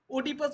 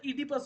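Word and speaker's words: Oedipus: হবে ঠিক আছে সোপোক্লিসের লেখা ইডিপাস দা কিং ওডিপাস বলবে না ইডিপাস হয় প্রোনাউন্সিয়েশন ইডিপাস দা কিং ঠিক আছে ইউরিপিডিসের মিডিয়া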